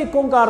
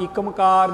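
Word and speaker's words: ੴ: इत्थे नाल ये भी समझ लीए कि यह पाठ एक ओंकार हैगा, एक ओंकार। आम करके इहदा पाठ एकमकार जां एक ओंकार किया जाता है। जिहड़ा सही पाठ हैगा, सही उच्चारण हैगा, वो हैगा एक ओंकार।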